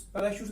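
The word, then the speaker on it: parachutes: पैराशूट्स, पैराशूट्स में देखिए CH है ना, वो SH के रूप में प्रोनाउंसिएट होता है उसका.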